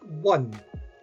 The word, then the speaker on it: one: say a $100 bill because one is said like it starts with a consonant so the rule is